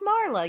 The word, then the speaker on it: Marla: what's wrong with Marla oh I pronounced the r yeah Marla how you how do you say it Mala it's just Marlo y'all Marlo's what's the difference